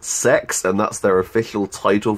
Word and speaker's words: CeX: every Monday is cex which is actually pronounced sex and that's their official